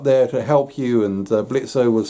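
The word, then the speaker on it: Blitzø: to help you and blitzer was saying of blitz the o is silent uh blitz was saying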